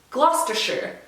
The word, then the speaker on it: Gloucestershire: strop shropshire shropshire devonshire gloucestershire so anytime you hear or you see the word with s-h-i-r-e on the end that is sure not shire so if you are